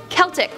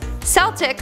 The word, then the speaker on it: Celtic: pronounced that correctly commented it's celtic with a k sound at the start when referring to the culture comes from the greek kaltos celtic with an s is only used in sports okay honestly